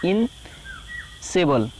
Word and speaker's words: insatiable: जा सकता है, यानी इनसेबल। इनसेबल स्पेलिंग क्या लिखते हैं, इनसेटिएबल लिखते हैं, INASATIABLE, इनसेटिएबल। पढ़ते क्या है, इनसेबल, INASATIABLE, INASATIABLE, इनसेटिएबल लिखते हैं और इनसेबल पढ़ते हैं, इनसेबल, ठीक है ना, इस तरह का।